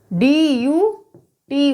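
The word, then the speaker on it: duty: डी आ रहा है, तो यहाँ पर यू का उच्चारण क्या होगा, यू होगा। तो डी यू टी वाई को हम क्या पढ़ेंगे, ड्यूटी।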